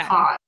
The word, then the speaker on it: cause: Cause. Mm. So those, these, cause, because. Those are all pronounced with a Z sound at the end.